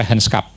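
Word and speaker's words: regentschap: Rehancup itu nulisnya regenskap, bacanya rehenskup ya. Karena Belanda reenskap. Jadi G-nya itu agak anu ya kedengaran gitu. Rehencup.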